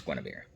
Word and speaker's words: Guinevere: black panther um and it's spelled like you and hueyver but it's Guinevere because they call her Gwen anyway so yeah that